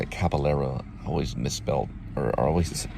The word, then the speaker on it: Caballero: That's how you say it, Caballero. I always misspelled or always mispronounced his name.